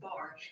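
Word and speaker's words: בר: Earlier we discussed how B and together is pronounced bar which means son.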